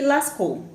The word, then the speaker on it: Lascaux: lá cole na frança se escreve chauvet e lascaux mas a gente pronuncia a gente já que é francês é chover e lascou tá e na espanha